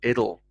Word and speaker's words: it'll: either there and again said quite quickly in the sentence that'll be enough it'll be enough with more of a soft d sound it'll and in this case